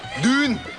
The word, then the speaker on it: Düğün: Düğün. uçu, Düğün. uçu, Dude. Düğün. Oh, the Uçak. G is silent.